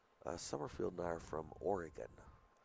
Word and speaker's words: Oregon: Summerfield and I are from Oregon. Oregon. I was going to say it's pronounced Oregon, but you know.